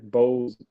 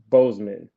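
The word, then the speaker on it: Boseman: to cover Chadwick did I say Chadwick Bose Chadwick Bozeman there we go Chadwick Bozeman it really reminded me of that but thank you for everybody in the chat I always somehow managed to say his name wrong but I think I got it right today anyway so we're going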